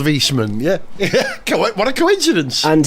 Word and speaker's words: Wiesmann: Wiesmann, Wiesmann, I think. W-I-E in German. The second of the vowels is the one you pronounce. So I-E is E, E-I is I.